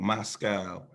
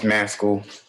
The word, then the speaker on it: Mascall: um mascall moscow i don't know how to pronounce that last name forgive me um it's maskel maskel okay how old are